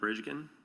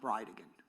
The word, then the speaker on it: Bridegan: It's Jared Gallen Bridgen. And I'll represent to you that it's pronounced Bridean.